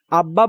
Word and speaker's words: আব্বা: আব্বা বানানে বয়ের সাথে বফলা থাকায় বফলার উচ্চারণ বহাল আছে।